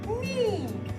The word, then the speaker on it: knee: in this particular word, knee, letter K is silent because it is not making the sound K.